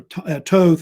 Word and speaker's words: Thoth: Yeah, Thoth or Thoth. It's pronounced either way, Thoth or Thoth.